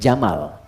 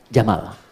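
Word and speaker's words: جمل: Jika dia pakai jenis gender dia jantan maka namanya jamal. Saya notis ya pendek bacanya. Jamal bukan Jamal.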